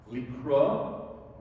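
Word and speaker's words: לקרוע: Likro, with an ayin at the end, okay, a certain Hebrew letter means to tear.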